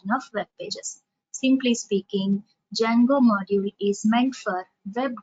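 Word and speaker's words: Django: there is a module called as Jango D is silent so Jango module I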